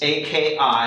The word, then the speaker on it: Akismet: It's A-K-I-S-M-E-T. I-S-M-E-T. Like Kismet with Akismet.